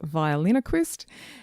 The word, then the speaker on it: Violinoquist: It looks like ventriloquist, but it is violinoquist.